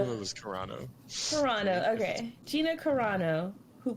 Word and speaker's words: Carano: It was Carano.